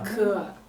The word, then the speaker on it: เกลือ: เกลือ How do you pronounce his name? Kua? เกลือ Good. Kua.